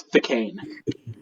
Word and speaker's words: Th'cane: The word is Thicane. Thicane? Thicane. How do you spell that?